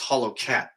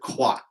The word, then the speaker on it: Hollowcat: Oh, it's Hollow Cat. I said it wrong. I said quat, and it's cat.